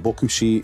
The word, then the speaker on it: Voxy: kategóriák ez pedig a toyota voxy és toyota noa vagy toyota bokushi és toyota noa a japán kiejtéssel ez mind a kettő